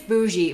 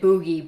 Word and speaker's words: bougie: do I pronounce this okay apparently it's bougie but I don't care I'm calling it Boogie because I think that's